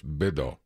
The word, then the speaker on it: Beto: Rick, you're saying it wrong. It's Beto. How about Robert?